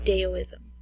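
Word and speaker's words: Taoism: um although it's spelled with a T it's pronounced deism the next one we'll discuss is confusion ISM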